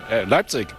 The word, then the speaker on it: Leipzig: Leipzig.